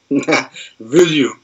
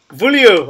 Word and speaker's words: Vullioud: How do you say it? Vullioud. Vullioud. Oh, right, okay. Yeah. So I have been saying it wrong all these times.